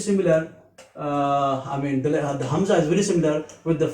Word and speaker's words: hamza: z a h hamza it is also a light letter so it can be pronounced easily it is very similar uh with the first part of the letter i in if you see the